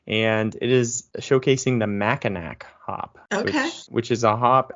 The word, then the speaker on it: Mackinac: malt single hop and it is showcasing The maak Hop which is a hop out of Michigan so Mao is how you pronounce that Ma oh you don't have you